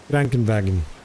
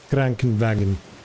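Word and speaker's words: Krankenwagen: It feels like it comes a bit from from to the nose. Cranken wagon. That's how I again I'm sorry if it sounds a bit weird but that's how I perceive it when I hear it.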